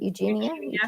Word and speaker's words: Eugenia: Eugenia?